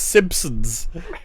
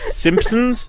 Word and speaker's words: Simpsons: agree with that one the difference is Simpsons and Simpsons it's there but it's quiet I don't care if it's quiet it's still there singon sson okay you